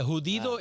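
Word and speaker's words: judío: like but it's not it's not said elud yeah hudo is how to say it you know when you're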